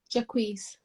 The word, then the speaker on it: Jacquees: Jacquees. Yes, it is. I always like, how do I pronounce it?